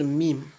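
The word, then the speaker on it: ميم: La deuxième lettre qui sort à ce niveau, au niveau des lettres, c'est la lettre Mim. Donc, la lettre Mim, également, elle implique une fermeture des lèvres supérieures et inférieures.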